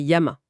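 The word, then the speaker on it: やま: Par exemple, le caractère pour la montagne, Yama. La lecture Kunomi, la lecture japonaise donc c'est Yama.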